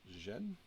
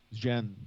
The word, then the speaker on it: Zhen: Is that Jen? Oh, Zhen. Yes, they're transporting Zhen, which are, as you all as good Andorians know.